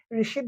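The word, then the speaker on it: receipt: কি বলি পহিলে হয় এটা রিসিদ বলি পিল আমি যে কম মুক্ত রিসিভ দিবি রিসিভ টি টু সাইলেন্ট থাকিব সে কারণে আমি রিসিদ বলি কম কি বলি কম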